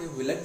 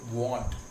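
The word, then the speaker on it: won't: इसको will not, विलेट नहीं पढ़ेंगे, इसको हम क्या पढ़ेंगे, वॉन्ट।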